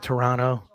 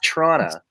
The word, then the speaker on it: Toronto: the correct pronunciation of Toronto isn't the second TV silent running it's Tirana it's not Toronto am i right Toronto